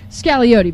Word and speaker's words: Scagliotti: I'd kind of like get all Gordon Gekko with it and be like, Scagliotti, baby. The G is silent, the O is long.